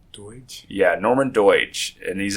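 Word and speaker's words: Doidge: uh Norman and I can't pronounce it spell pronounce this for me Larry D oi dge Doge Doge yeah Norman dege and he's a doctor uh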